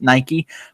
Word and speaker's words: Nike: this territory of Nike which he pronounced night that's Nike but semantics aside we